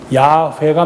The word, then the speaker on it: 야훼: 옛날에는 이걸 발음을 잡아서 여호와라는데 지금 학자들이 얻은 그 결론은 야훼가 맞다 그래서 가톨릭이 제대로 발음하고 있는 거예요.